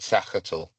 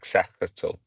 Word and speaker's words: sagittal: I just pronounce it sachatel. So more like a like sachatel, a sachatel plane. But pronounce it however you feel fit.